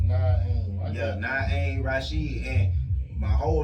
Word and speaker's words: Naim Rasheed: Pronounce your artist name for him. Naim Rasheed. That's my artist name. Naim Rasheed.